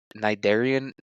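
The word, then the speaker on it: Cnidaria: but I was like dude narian it's spelled c n i d a r i a NS and I was like dude two consonants in a row to start a word is it's crazy unless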